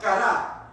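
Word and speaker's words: קרא: Bueno, la palabra invocar en el idioma hebreo es la palabra kará, como cara, pero con acento en la A, kará, y no con C, sino con Q.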